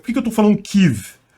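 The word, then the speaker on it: Kyiv: que eu tô falando kive porque essa é a pronúncia correta do nome da cidade ou melhor é pronúncia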